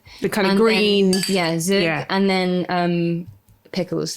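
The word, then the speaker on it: zhoug: the side they have I don't know how to say it, but zhug? Zhug? Zhug. Oh yeah, z h o u g. Yeah. The kind of green Yeah, zhug.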